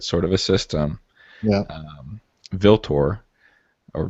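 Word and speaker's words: Vltor: Viltor, or Vieltor, how do you pronounce that? It is Roman for Ultor. Ah, so it's not a V, it's a Roman UV thing.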